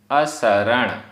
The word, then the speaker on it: असरण: असरण असरण, यहाँ जो सा है वो सड़क वाला सा है जिसे दंत सकार कहते हैं। शरण शक्कर वाला शा नहीं, शरण असरण सड़क वाला सा असरण।